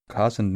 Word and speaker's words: cozened: I wasn't actually sure I think I read it as cozened but apparently it's cause and Oh cousin means deceived or tricked